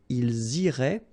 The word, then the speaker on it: ils iraient: And then if you look carefully, you get A-I-E-N-T. Okay? But then phonetically, it goes like E. Okay? So, technically, these form and these forms here are pronounced the same way. And it goes like irait. Okay?